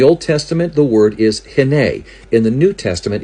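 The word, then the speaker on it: הִנֵּה: In the Old Testament, the word is hene. In the New Testament, it's pronounced idu.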